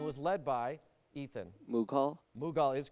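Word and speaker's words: Mughal: saah Jan and was led by Ethan mugal mugal is correct led by Akbar the Great and sorry for those mispronunciations you got it anyway Kathy Ames gives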